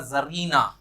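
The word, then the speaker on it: czarina: Gender होगा वो होगा जरीना, इसमें सी साइलेंट रहता है।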